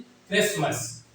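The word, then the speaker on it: Christmas: क्राइस्ट तो इसको टी को यहां पर क्या कर दिया जाता है? इसमें साइलेंट कर दिया जाता है ताकि बोलने में प्रवाह में कोई दिक्कत अड़चन ना आए। ठीक है? तो इसको जो हम पढ़ते हैं वो क्या करते हैं? क्रिसमस। क्रिसमस। क्रिसमस।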